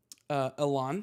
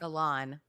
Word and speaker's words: Elan: Do you remember how to pronounce it still? Elan. Elan.